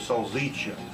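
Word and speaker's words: salsiccia: they're very proud of the way they make sazisa all right it's the way you really pronounce the word of soul zicha so so everybody understands me out there that's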